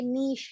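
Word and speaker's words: niche: अब आपका ये जो वर्ड है ये नीश है, इसे निच किसी ने नहीं पढ़ना, निच जो है वो गलत है, नीश, करेक्ट प्रोनाउंसिएशन इज नीश।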